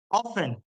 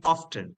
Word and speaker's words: often: 100% porque significa siempre often o también often ambas pronunciaciones eh varí a menudo